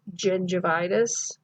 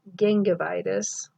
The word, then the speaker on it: gingivitis: GI is gingivitis, not gingivitis or gingivitis.